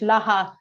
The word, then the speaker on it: Lara: and you're french and the pronunciation of my name is the best when studying french laha love it i need